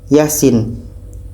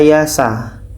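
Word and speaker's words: يس: Q yang kedua ini Yasin huruf fawatihar harus dibaca satu-satu tidak boleh kita baca Yasa Yasa Kenapa dibaca Yasin karena fawatihusar huruf pembuka surah harus dibaca sesuai dengan ejaannya ejaannya sepertimana yang kita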